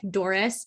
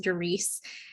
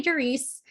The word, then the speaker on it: Doris: It's spelled like Doris, but it's pronounced Doris.